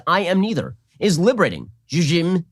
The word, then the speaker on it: Zzyym: The recipient is Colorado resident Dana Zizim. Okay, the reason I pronounce it that way is because the last name is spelled Zzyym.